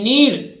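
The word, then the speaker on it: knead: ईडी तो देखिए के उच्चारित नहीं होगा एन डबल ईडी नीड आटा गूथना ध्यान रखना वो नीड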